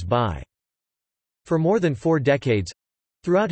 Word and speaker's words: Bayh: Hey, look him over, he's your kind of guy, his first name is Birch, his last name is Bayh.